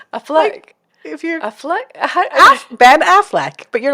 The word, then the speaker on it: Affleck: And You said that with an accent. oh, did I? How do you say it? Ben Affleck? Affleck? What's his last name? How do you say it? It's like you became French. I do not speak English very well. It's not my first language.